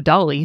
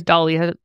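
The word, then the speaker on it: DALL-E: I've been putting in some inputs into Dolly so people could see kind of what you're talking nice.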